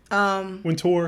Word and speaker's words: Wintour: Wintour. I think I'm saying her name wrong.